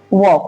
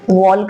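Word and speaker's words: walk: Form में भी वक्ड L silent रहता है इसलिए हम वॉल्क नहीं वॉक करते हैं।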